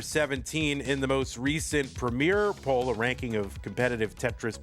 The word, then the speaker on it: Premier Poll: Premier with an E at the end, so spelled like Premier E-Poll, but it's really Premier Poll, but with an E.